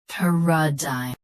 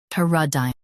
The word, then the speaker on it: paradigm: Paradigm. Paradigm. US, pe. UK, pa. Same rest.